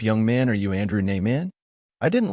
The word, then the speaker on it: Nieman: He pronounced it Nieman, as most people did. In our family, we pronounced it so it sounded like New York man.